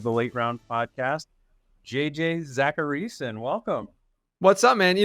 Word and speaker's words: Zachariason: You know, it's very flattering that you actually know how to pronounce my last name. Whenever I go on shows like this, it's always Zachariason, or like some people, like, whenever I get like spam phone calls, it's Zachariason.